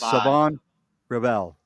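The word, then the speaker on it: Shavon Revel: Sav Savon Rebel has already been brought in and a couple of others. That's right. So, yes, the H is silent for it's Savon Rebel.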